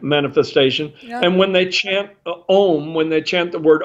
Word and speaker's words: om: said because the word om is well actually in the hindu culture in the hindu religion it's stretched out in pronunciation where you've got three sounds a-u-m and a represents bish